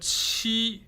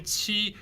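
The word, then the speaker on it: 七: But chi you need to pay extra attention because the Q sound is not in English. So when you say chi it's more likely cheese but only the front part.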